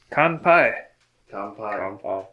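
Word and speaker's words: kanpai: we like to drink and here we are con pie pie and for listeners at home it's spelt k-a-n-p-a-i con pi you can find that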